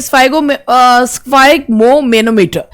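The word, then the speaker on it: sphygmomanometer: अब पहला जो वर्ड है, पहले तो इसका प्रोनाउंसिएशन देखिए, स्फाइगमोमेनोमीटर।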